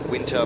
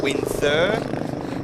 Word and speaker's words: Winther: So, Caleb Winther, I do apologize for pronouncing it as winter before. Winther, he's into Fink and Reggie Nardu right behind him on the 822 across the line.